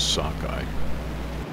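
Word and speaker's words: Sukoi: sockeye islands coming up they're written as sukhoi islands on the map but they're pronounced as sockeye as i said we're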